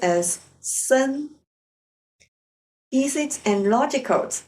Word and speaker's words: 森: And on top of that, if we add one more tree, it will become forest, pronounced as 森.